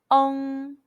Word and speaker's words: ong: talk about the final ong. When you see the English letter ENG in Pinyin, the pronunciation is ong. It's like the UNG in the English word young, but the G sound is barely pronounced.